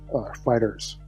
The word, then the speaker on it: FighterZ: So Dragon Ball FighterZ, Fighters, the Z is silent there, not silent, but you know what I mean.